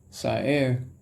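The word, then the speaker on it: סער: Now, tempest, according to Lexicon Strong's H5591, that's pronounced Sa'er, and a second reading, Sa'ara, means a hurricane.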